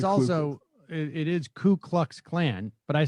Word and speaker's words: Ku Klux Klan: uh in that segment i said klu klux klan instead of ku klux klan a lot of people say it that way too though it's true but it's also it is ku klux klan but i said klu